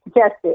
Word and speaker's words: Jussie: Jussie. I think it's Jussie Smollett. Smollett. That's how you pronounce it, yeah.